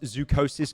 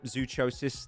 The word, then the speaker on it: Zucosis: earlier, you might remember the infamous Zucosis game that I was calling Zuchosis the entire time and my stream just never let it go ever. Guys, you need to understand I sometimes mispronounce words.